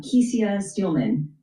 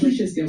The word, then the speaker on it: Kesia Steelman: And talk to us about the president and the CEO, uh Kesia Steelman. Am I pronouncing your name correct? Kisha Steman. Kisha Steelman. Okay.